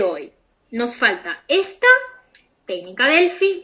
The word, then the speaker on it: Delphi: leer que se escribe Delphi, ¿no? Pero como se pronuncia, lo seguimos pronunciando de acuerdo a su idioma madre, que es el inglés, y ahí se pronuncia Delphi.